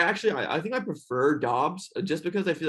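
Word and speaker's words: Romeo Doubs: romeo also i believe his last name is pronounced dobbs just saying okay i used to say dubs too but i i saw some a video i think it was a packers guy saying dobs that's so i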